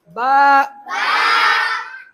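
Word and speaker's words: ب: दोनों लब आपस में मिल जाए, मर्ज हो जाए, तब बा होगा।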